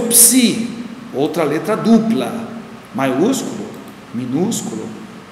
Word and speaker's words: psi: letra depois temos o psi outra letra dupla maiúsculo minúsculo em grego sua forma em português e como se pronuncia PS como em psicologia Aí temos né psicologia